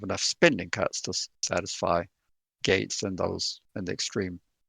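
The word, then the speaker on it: Gaetz: out well uh representative Gates and that's spelled g AE TZ I think from Florida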